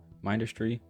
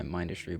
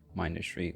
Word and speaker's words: Mindustry: Third, Mindustry and my Mindustry mods. Yes, I pronounce it Mindustry. I know there is some discourse over if it's Mindustry or Mindustry. I pronounce it Mindustry, and that's not going to change.